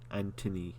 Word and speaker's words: Anthony: Oh, the H is silent. Anthony Daniels.